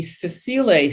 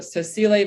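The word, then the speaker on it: sessile: three and trillium the other classification are the cecile species that's spelled s-e-s-s-i-l-e excuse me this is a yellow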